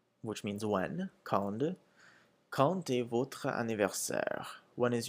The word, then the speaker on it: quand: And you'll notice that with quand, when it's quand by itself, the end is pronounced like a D sound, like a D. When quand comes before a vowel, such as in quand, the D changes to a T sound.